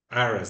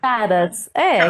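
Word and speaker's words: Karras: Harras, Harras, Aras, né? Harras, Charas, com K. com K. Tá, mas ele é grego, né? Não se fala Aras em grego, né? Caras, que eles Caras, me caras, né, pronunciam galera?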